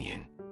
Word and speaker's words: 您: We use this Vietnamese cultural association to help you remember that yin is pronounced with a rising tone towards the end to express respect.